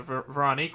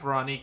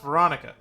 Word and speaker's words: Veronique: I also didn't expect Veronique to be the way her name was pronounced when we first met her, mainly because I expected it to be pronounced Veronica.